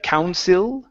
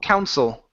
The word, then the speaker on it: Council: this uh i l we want to pronounce that instead of counil okay Council Council yes so by the Town